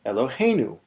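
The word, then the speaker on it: אֱלֹהֵינוּ: word is accented but what if we add a syllable onto this word and change it from eloh to to elohenu here's what that looks like we've gone from eloh he to elohenu the go syllable is still hey but now it's not the final syllable anymore the get ready syllable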